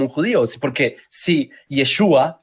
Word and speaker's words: Yeshua: judío es porque si yeshua que será su nombre aunque se pronunciaba yeshua tengo un video desde